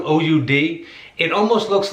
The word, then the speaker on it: oud: this instrument on there i had to look up the pronunciation i don't know the pronunciation but i look it up it's called an old oud it almost looks like